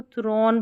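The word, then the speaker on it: throne: और लास्ट में जो इ है ना ये साइलेंट है। तो ये थ्रोन बन गया।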